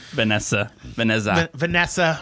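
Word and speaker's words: Vanjessa: And also Vanessa with the J. The J is silent.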